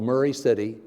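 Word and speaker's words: Maury City: in West Tennessee called Murray City Tennessee M a UR why not Mari it's pronounced Murray City by the locals population 650 every time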